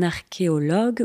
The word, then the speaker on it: archéologue: des Pharaos et donc je répète quelques mots pour la prononciation on dit donc un archéologue ou une archéologue et au pluriel ce sont des archéologues et